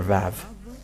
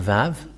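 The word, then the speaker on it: ו: The Vav. And this is the letter Vav. This is the Vav. The way to read this is V as in Vag. So V, that is how it is read.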